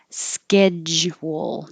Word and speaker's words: schedule: z in there but you have to start by blocking the airflow with a j schedule and you'll hear this both ways with an ad